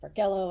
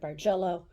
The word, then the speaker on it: bargello: going to do something called basic bargello it's pronounced bargello I've heard barello I don't care there's no quilt police but the concept is the same okay whether you pronounce it bargello or burello it's the same thing and what we're going